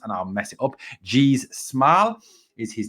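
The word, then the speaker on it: Gijs Smal: those Players whose name is very hard to pronounce and I'll mess it up G smile is his name yes that's right gz smile uh not easy to say not easy to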